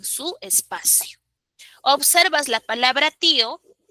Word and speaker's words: tío: Pero tío lleva tilde en la I. Y no es un caso de hiato. Es un caso de... no es un caso de diptongo, es un caso de hiato. Dos sílabas. Ti, Oh.